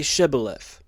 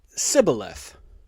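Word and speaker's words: Shibboleth: They said, "All right, say Shibith." if he said cibaleth because he could not pronounce the word correctly.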